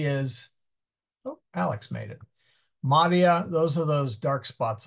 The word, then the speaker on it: maria: they are spelled identical Maria M EST so the important thing is that I is long and since that is the second syllable it is stressed Maria corpora aqu Maria